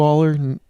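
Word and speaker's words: Allar: um but very good I mean but Drew Aller is that how you say his name yeah all Aller to go one for 16 on third down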